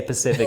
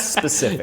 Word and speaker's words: specific: I will always say Pacific instead of specific.